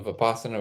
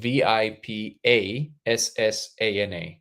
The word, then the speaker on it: Vipassana: so Terry here recently went to a Vipassana retreat due to some of our conversations on the live.